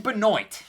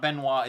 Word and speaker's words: Benoit: It's Ryan Benoit, and it's an odd way, especially for Canadian, to pronounce it. It's not Benoit, it's Benoit.